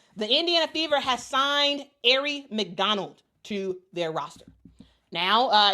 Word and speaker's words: Aari: And I'm so happy they put the pronouncer here. It's Aari.